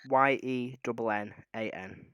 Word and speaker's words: Yennan: Spell that phonetically. Yennan.